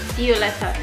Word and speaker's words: Violeta: Violeta. It pronounces like a B sound.